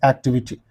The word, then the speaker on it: activity: remember it t y all the words ending in ity are ACC ented or stressed on the syllable preceding the suffix so this is the suffix and the preceding syllable will receive the stress for example I'll give you this example activities Act V activi is there okay you write this activity how do you pronounce activity first you have to